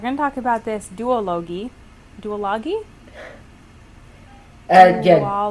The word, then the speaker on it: duology: yeah do a login i call it duology but don't you don't have to follow my lead yeah well a song g is just ridiculous it's obviously supposed to be a hard g um i studied english